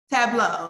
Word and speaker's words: Tableau: And am I pronouncing it right? Is it Tableau? Tableau, a Salesforce company.